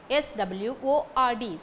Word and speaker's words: sword: last n is silent sword s w o r d sword w is silent resign r e s